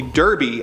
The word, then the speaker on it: Derby: His nickname is actually Derby after the hat he's always wearing, but his heavy accent makes him pronounce it Doiby.